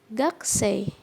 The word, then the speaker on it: gakusei: Kemudian ada gakusei ya. Gakusei yaitu artinya mahasiswa. Jadi u di sini, u setelah ku ya, pengucapannya itu dilesapkan. Jadi tidak terdengar jelas gakusei ya, tapi gakusei, u-nya dilesapkan.